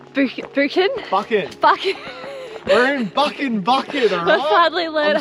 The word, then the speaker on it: Buchan: We're in Buchan, alright? We finally learned how to say it. Pronouncing it wrong. Finally learned how to say it, guys. It is Buchan, and it's sunny and it's beautiful.